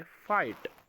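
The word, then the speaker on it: fight: इसके बाद है फाइट। ये यहाँ पर जो जी लिखा है ये साइलेंट है। ठीक है। ये पढ़ा जाता है फाइट।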